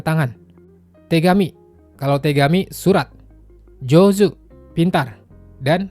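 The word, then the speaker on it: 上手: Ini kanji tangan tapi tidak dibaca t. Keduanya termasuk cara baca khusus. Jadi teman-teman hafal aja. Kanji atas dan tangan bacanya jozu artinya pintar. Kalau kanji bawah dengan tangan bacanya heta artinya bodoh.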